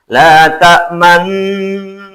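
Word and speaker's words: لَا تَأْمَنَّا: Membacanya selama dengung bibir ditonjolkan atau dimonyongkan, karena kalimatnya seperti ini. Misalkan la ta'man. Coba lihat, maaf ya, bibir saya. La ta'man. Harus begitu.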